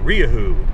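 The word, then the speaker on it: Rieju: got bought out by riahoo and i think that's the correct pronunciation it's spelled like riju it's another spanish i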